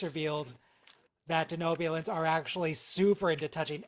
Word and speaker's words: Denobulan: Denobulan is pronounced a denobian. Yeah, he said that wrong.